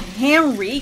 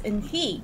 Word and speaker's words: Henri: It's not Henry, because he's not English or American. It's Henri. Henri? Sorry, it's French.